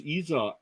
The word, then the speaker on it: Isaac: one thank you oh it spelled like Isaac but it's Iza isak bounced one in